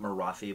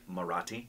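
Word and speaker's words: Marathi: for this marati right not morathi but morati marati marati marati yeah so not the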